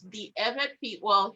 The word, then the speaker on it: Ewe: and it's called the evan pete well he wrote ewe but i'll pronounce it the right way it's called the eva people of german togoland now